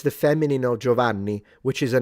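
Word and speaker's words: Gianni: Don't lie to me because you all say Gioani. The I is not pronounced. It's Jot J. Joanni.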